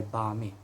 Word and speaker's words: balmy: I realize although there is an L, although the L is silent and it's balmy.